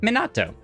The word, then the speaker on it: Minato: everyone everyone is reading it's pronounced Min like mini ah toe okay Minato nice I did a